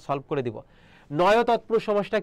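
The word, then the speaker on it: নঞ তৎপুরুষ: এবার আছে দেখো নয় তৎপুরুষ। অনেকে উচ্চারণ করে নংস তৎপুরুষ, না এটা নংস না, এটা কি হবে? নয় তৎপুরুষ হবে।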